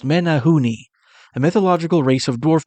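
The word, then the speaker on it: Menehune: Menagu and Prince Edward Island are abomin pronounced Menahooni.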